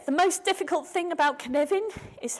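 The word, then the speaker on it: Cynefin: Okay, the most difficult thing about Knevin is how to pronounce it. It's pronounced Knevin. It's spelt Sinophin. It's a Welsh word.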